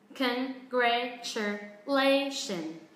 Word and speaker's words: congratulations: Và các bạn để ý cái ending sound nó là âm z nha, âm z, âm hữu thanh.